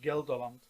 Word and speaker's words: Gelderland: in Holland, which is called I hope I pronounce it correctly, Gelderland.